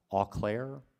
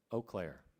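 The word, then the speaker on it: Eau Claire: Professor please correct me alclair is that the correct pron nunciation o Clair okay sorry I don't know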